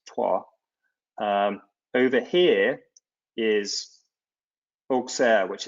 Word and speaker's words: Troyes: And even more interesting, perhaps, is if you look over to the right around Troyes, it looks like Troy, but pronounced Troyes.